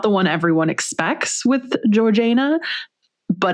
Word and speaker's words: Georgiana: And so, I will also mention, so Georgina is how we're going to pronounce her name because friends, that is how she chose to pronounce her own name. Um, you might, some people when you read it, you might think Georgiana. You might think Georgina, but she pronounced it Georgina.